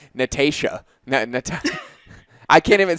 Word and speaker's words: Natasha: I almost want to be like Natasha. I can't even say it again. Say it how Canadians say it. Natasha. Natasha. So Natasha. Yeah. So Americans say Natasha and Canadians say Natasha.